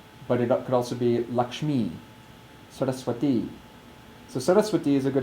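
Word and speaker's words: Sarasvatī: So Saraswati is how we pronounce her name.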